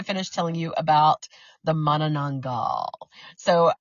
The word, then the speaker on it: Manananggal: So the word Manananggal, and it's Manananggal. So Manananggal, and that's the correct pronunciation.